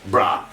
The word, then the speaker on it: borough: that we have gh the end of bara which we pronounce brah the gh goes silent so whenever you see